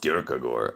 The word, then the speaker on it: Kierkegaard: It's pronounced Kierkegaard.